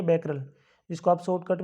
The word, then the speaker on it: Becquerel: Next है, what is SI unit of जो है activity of A radioactive substance, ये होती है बैकरल, जिसको आप शॉर्टकट में जो है BQ बोल सकते हैं।